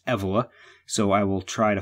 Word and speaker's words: Evola: world by Julius Evelyn I'm inclined to say his name Ebola if I say it that way please forgive me it seems from listening to some other people talking that the proper pronunciation is EV Allah so I will try